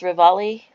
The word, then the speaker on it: Ravalli: uh Corvallis Montana she's 55 years old five foot tall 115 pounds uh the county every time I see it I want to say ravioli I guess it's pronounced rivali maybe County um and I'll